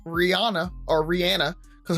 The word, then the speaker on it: Rihanna: Rihanna or Rihanna because her actual name we should be pronouncing it Rihanna so anybody and listeners out there if you are pronouncing uh Rihanna's name Rihanna it is rihan and her team actually confirmed that that's how you should be saying it so I didn't